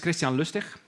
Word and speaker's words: Christiaan Lustig: My name is Christiaan Lustig. That's right, with the hard G in the end.